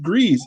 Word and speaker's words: Gries: at a bar uh griez introduced himself and i probably butchered that didn't i no you got it right wow okay put that